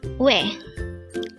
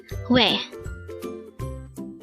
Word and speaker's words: 왜: This is pronounced as a one-syllable word. Pronounce it with me. WAE. WAE.